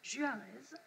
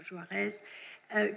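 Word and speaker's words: Juárez: opposé dans le film, je prononce à la française, Juarez, de 1939, au grand président Benito Juarez, qui prend ses décisions sous l'égide, sous la tutelle protectrice d'Abraham Lincoln.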